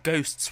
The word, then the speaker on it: Ghosts: called Call of Duty ghosts not ghost but ghosts with an s on the end again if you just